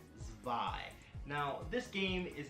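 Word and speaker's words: Zwei: if it came out this is Panzer Dragoon spy or number two if you want to call it that but it's pronounced spy now this game is not as good as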